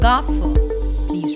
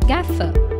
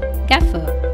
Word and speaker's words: gaffer: when making a film it is often incorrectly pronounced as Gough remember your again just like in cast the a will be pronounced as air and not arm so the correct pronunciation of the world will be Gaza now listen to the correct pronunciation of these